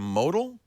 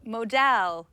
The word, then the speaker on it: modal: you've probably heard of modal modal modal is the way I pronounce it modal it's um it's kind